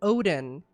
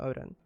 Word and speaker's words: Odyn: After defeating Odin in the Halls of Valor, yes, there's a character named Odin, Odin, Xal'atath not that one.